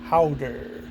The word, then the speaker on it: Häuter: It's pronounced Häuter. It's like saying chowder without the C.